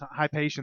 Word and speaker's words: Hypatian: uh you remember uh okay so that's how you pronounce it hypatian yes I still can't say it it's very easy it's it's spelled the way that you say it they're actually playing tonight